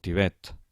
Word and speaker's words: Tibet: Comencem per les agudes, intentem pronunciar-les. Un moment abans que ho digui jo. Xofer, oboè, alfil, zenit, futbol, el Tibet, els Carpats.